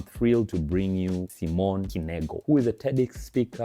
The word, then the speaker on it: Knego: Is it Simone Knego, or I have to pronounce the K? You pronounce the K. Oh, yes. so Simone Knego. Oh, Simone Knego.